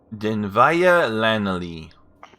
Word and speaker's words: Dinvaya Lanalei: Dinvaya Lanalei.